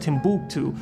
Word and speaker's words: Timbuktu: from here to Timbuktu the capital was actually pronounced Timbuktu and that's where most of them went to